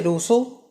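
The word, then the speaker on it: Rousseau: दूसरे आपके थे रूसो, SEAU, स्पेलिंग ही ऐसी है।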